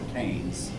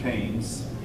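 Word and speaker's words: Keynes: man's name John Mayor it looks like it's pronounced ke but it's actually pronounced KES John mayard KES and his economic policies have been followed by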